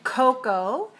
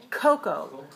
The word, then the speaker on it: Koko: is record record and remember the name Coco has a stress on the first syllable but not on the second so the Coco has